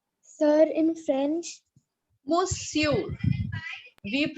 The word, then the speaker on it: monsieur: Monsieur. We pronounce it as monsieur.